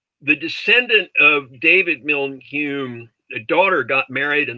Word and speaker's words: Home: n-i-n-n-i-n-i-a-n hume h-o-m-e but pronounced hume as in david hume and he had this